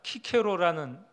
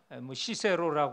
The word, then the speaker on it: 키케로: 형벌로 그렇게 알고 있었어요 로마의 철학자 키케로는 시세로 고도 발음하는데 이분이 어떤 말을 하냐면